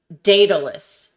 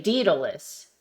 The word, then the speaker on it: Daedalus: a tangent uh like Daedalus right um Daedalus is actually deedles because it's AE huh I don't know